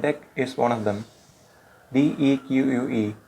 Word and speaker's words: deque: In this video, we will talk about Deque, that is in the collections module. Collections provide a range of useful functions and Deque is one of them. DEQUE, pronounced as Deque, stands for double-ended queue,